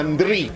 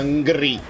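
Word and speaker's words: N'Dri: Si chiama Ndri, non si chiama Ngri.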